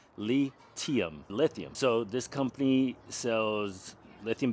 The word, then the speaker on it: LiTime: So when you read it, it looks like it's pronounced LITime, but it's actually a play on words. The correct pronunciation of the company is lithium.